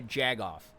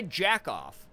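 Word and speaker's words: jagoff: you call them a jag off not a jack off like you or a jerk off you call them a jag off like j-a-g it's it's great when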